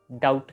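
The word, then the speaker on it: doubt: इस वर्ड में ऐड कर दिया और इसकी प्रोनाउंसिएशन को डाउट कर दिया।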